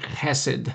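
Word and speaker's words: חסד: it's the Hebrew word cassid cassid probably pronounced more like cassid you got to get that guttural in there that guttural sound but cassid c h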